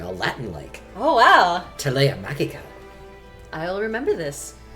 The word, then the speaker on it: Magica: The hard G is a feature of Latin. It's the same as I believe technically that is the correct pronunciation of that word in Puella Magi. Puella Magi Madoka Magica. I believe officially it is the Latin pronunciation.